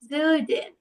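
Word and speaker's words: Süden: এরপর আমরা সাউথকে বা দক্ষিণকে বলবো দেয়া জুডেন, দেয়া জুডেন। যেহেতু umlaut আছে সেহেতু একটু উটা বলার সময় ইউ এরকম করে উচ্চারণটা করবো। ওকে, দেয়া জুডেন।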